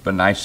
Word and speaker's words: Bernice: and the governor and Bernice or benice benice is what how my Bible trans pronounces it but I said that